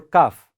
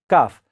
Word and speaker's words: calf: How do you pronounce? Calf or calf? Yes, it should be calf.